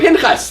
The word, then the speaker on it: Pinchas: Pinchas.